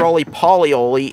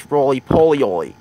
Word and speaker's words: Rolie Polie Olie: brothers roly poly ladies he has pronounced poly it's not roly-poly Olie its Rolie Polie Olie you need to gain to pronounce it correctly what that Gucci it's